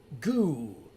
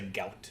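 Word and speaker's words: goût: And it's pronounced goo. Aldea Carufus. I think it's funny when I say gout.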